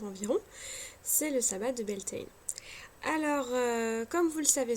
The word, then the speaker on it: Beltane: Ce sabbat porte plusieurs noms, donc le nom le plus connu c'est Beltane, qu'on peut écrire Beltane ou Beltane avec AI, mais les deux orthographes de toute façon se prononcent de la même façon.